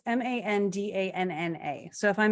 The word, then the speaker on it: Mandanna: Yeah, it's Mandanna. So if I'm mispronouncing that, you can look it up and then find that author anyway.